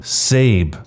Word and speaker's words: Sab: To cut right to the chase, I legally changed my name to Sab, pronounced like Abe, but with an S.